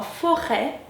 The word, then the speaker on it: forêt: Nous avons le E accent circonflexe qui se prononce également comme dans forêt, forêt. Nous avons le E tréma comme dans Noël, E tréma, Noël.